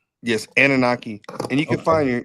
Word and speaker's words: Anunnaki: So, one one subject that came up was I guess it's the Anaki. Is that is that how did I pronounce it wrong? Yes. Anunnaki.